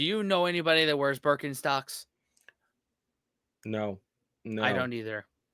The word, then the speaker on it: Birkenstock: So English speakers usually say Birkenstock. In German, we say Birkenstock.